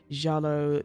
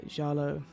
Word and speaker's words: giallo: it is inspired by uh jalo I believe that's how you pronouncing it is the the Italian for yellow uh horror Cinema so